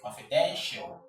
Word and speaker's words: confidential: This is the right syllable to take the stress. Commercial. Another example is, let's look at the word confidential. Let's start right away. Confidential.